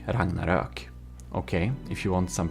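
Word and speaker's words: Ragnarök: he is Swedish and um it's called the Ragnarok. Rangnarak. Okay, if you want some pronunciation, there you know.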